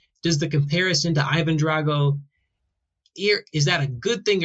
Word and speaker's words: Drago: My heritage is Sicilian, so it's pronounced Drago for me, Drago for Russian.